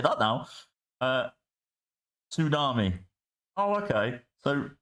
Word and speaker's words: tsunami: to Tsunami to Tsunami you don't pronounce the T in tsunami unless unless you do